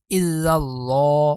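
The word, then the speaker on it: إلا الله: হামজা লামজের ইল লাম আবার এই লামকে ধরবে কেন এই লামের উপরে তাজদিদ আছে তাই স আমরা এখানে ইল্লাল্লাহ ল লাম খারা জবর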